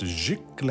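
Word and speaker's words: giclée: And this is pronounced gicle.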